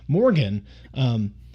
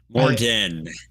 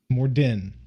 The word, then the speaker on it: Morden: So Morgan. Morden. D-E-N. Morden.